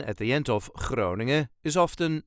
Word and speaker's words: Groningen: This is the way us Dutchies say Groningen. Groningen. There is a very slight emphasis on the first syllable. Groningen.